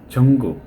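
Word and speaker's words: 중국: তারা এই বিষয়গুলো ক্লিয়ার এই জিওটা প্রথমে যখন বসে তখন বোর্গের জ এর মাঝামাঝি উচ্চারণ হয় জঙ্গুক এটা জঙ্গুক না বোরের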